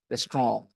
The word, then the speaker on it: restaurant: Actually, the word comes from French, and in French it is pronounced restaurant. Okay, और हमारे यहाँ हिंदी में भी रेस्तरां हो गया है, गौर करा जाता है।